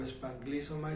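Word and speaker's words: σπλαγχνίζομαι: La palabra que aquí se usa por misericordia es rara, se pronuncia en griego espanglizoma y significa se le reventaron las entrañas.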